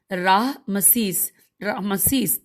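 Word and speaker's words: رعمسیس: اس کا نام رامیسیس، ہجے کرتے ہیں پریشان نہ ہو، رے عین میم سین یہ سین، راہ مسیس تھا، اور دوسرا اس کا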